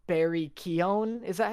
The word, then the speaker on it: Keoghan: But no, yeah, he just like because I found out that like Barry Keoghan, is that how you pronounce his name?